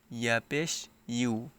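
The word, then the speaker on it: يُ: ইউ ইয়া পেশ ইউ ইংলিশে একটি লেটার আছে ইউ সেই ইউ এর মত এখানে উচ্চারণ করতে হবে ইয়া পেশ ইউ অনেকে অনেক রকম উচ্চারণ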